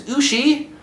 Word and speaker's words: Ushi: This guy right here, his name is Ushi, which rhymes with sushi.